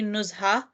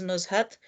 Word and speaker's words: Nuzhat: In Arabic, I think it's specifically Nuzha, but it's also pronounced as Nuzhat.